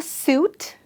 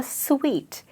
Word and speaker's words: suite: Is it a suit or it's a suite? Well, it is spelt like a suit, but in reality, it is a sweet, which is written as just like sweet, which is the taste sweet.